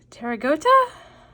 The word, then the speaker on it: Pterygota: And then the subclass is Pterygota, because I'm assuming the P is silent.